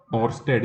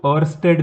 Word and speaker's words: Oersted: को हैं तो मैंने यह जो नाम इनका और स्ट्रेट जिसको मैं बोलता हूं इसको लोग अलग-अलग तरीके से बोलता है कुछ लोग इसको और स्टेट भी बोलता है और स्टाफ को साइलेंट करके